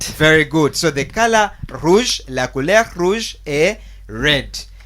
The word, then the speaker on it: rouge: We have la couleur rouge.